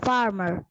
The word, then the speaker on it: farmer: the well to the farmer to the farmer very good very good amin see even in the word farmer both the r's are silent why in the word